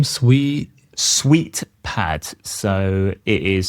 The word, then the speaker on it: SweetPad: However, I have a plugin installed in Cursor called SweetPad, and that allows me to open the simulator from Cursor instead of having to go to Xcode.